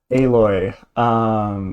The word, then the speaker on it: Aloy: Um, Aloy, which is look it up. That's how you pronounce it.